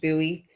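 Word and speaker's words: Bowie: Sunday where it is you're It's in Buoie, Maryland. B O W I E. It's pronounced Buoie.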